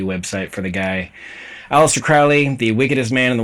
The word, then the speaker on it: Crowley: nerds out there, because the name Crowley is not a spondee, it's a trochee. A spondee, I mean, the word spondee is a spondee. It's two stressed syllables, spondee. If for Crowley to be a spondee, it would have to be pronounced Crowley instead of Crowley. It's stressed, unstressed.